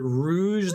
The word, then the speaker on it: Rouge: to see you guys is it rouge the bat oh i thought her name was actually rogue and i was pronouncing it wrong on purpose